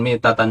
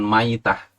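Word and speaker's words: مِيتة: dengan mitan jahiliyah ini bacanya dengan Meme dikasroh yakni nitah artinya keadaan mati bukan maitah kalau mitah itu bangkai seperti yang dikatakan oleh tadi penceramah tadi maknanya bukan bangkai Meta maknanya adalah kondisi mati gak mau tahlil jahiliyah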